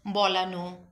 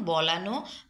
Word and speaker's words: বলানো: আসুন আন প্রত্যয় আন্তে শব্দের শেষে অ এর উচ্চারণ ও এর মত হবে যেমন বলানো পাঠানো করানো দেখানো শেখানো